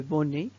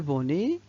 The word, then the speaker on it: bonnet: le z et finalement le bonnet le bonnet il contient une lettre à la fin qui ne se prononcent pas bien plus si maintenant